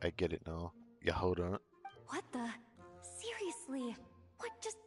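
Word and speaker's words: Jahoda: Yes, the J is silent. I get it now. Yehoda.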